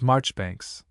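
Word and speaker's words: Marjoribanks: Ledger, for instance, is always pronounced as if written sillinger, commanderly as Chumley, Marjgery Banks as Marchbanks, and the illustrious name of Caendish was for centuries familiarly pronounced Cand.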